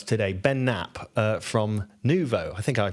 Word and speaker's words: Nuvo: studio with us today, Ben Knap, uh from Nuvo. I think I pronounced that correctly.